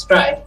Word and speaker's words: Strife: name says um Strife it's pronounced strive but some people will pronounce it as or something